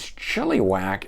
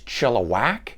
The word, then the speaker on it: Chilliwack: All right, now I had been pronouncing this as Chilliwack, and best I can understand from some people that had left messages is Chilliwack, kind of with an A in the middle of it, so I hope I'm saying that right now.